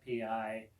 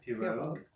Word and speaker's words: pirogue: There's a pirogue mentioned in the song, which is a long, narrow canoe. Am I pronouncing that right? Pirogue? Yeah. Pirogue.